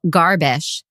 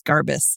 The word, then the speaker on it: Garbus: Our lawyers have stepped in and said to our listener, Carrie Jill Garbish, I think I'm pronouncing that correctly. We are both listeners, that's funny because sorry. Her name is Garbus, so I can't wait to see where this goes.